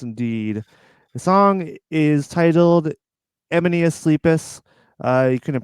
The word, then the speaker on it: Emenius Sleepus: Emenius Sleepus. It is Yeah. funny because I remember being younger and just calling it E minus Sleepus.